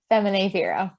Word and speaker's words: Feminae Vero: Feminae, how do you pronounce it, Mary Kate? Feminae Vero.